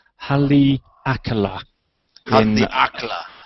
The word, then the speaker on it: Haleakala: somebody emailed me this we were talking about pronunciation earlier and it's Halle Alcala I'm the actor Haleakala I've been there that's a great note so